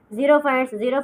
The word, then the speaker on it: xerophytes: अब देखो third type हमारे पास क्या है, जीरोफाइट, ठीक है, इसको जीरो पढ़ते हैं, एक्स को जेड के साउंड से प्रोनाउंस करते हैं। जीरोफाइट्स किस तरह के प्लांट्स हैं जो ड्राई प्लेसेस पर होते हैं, ठीक है।